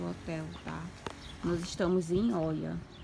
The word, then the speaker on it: Oia: Nós estamos em Oia, que se escreve Oia, mas fala Ia, né?